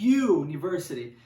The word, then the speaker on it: university: letra u the universe série só que a pronúncia é universe universe para o are you né função de y university e por esse motivo nós vamos falamos n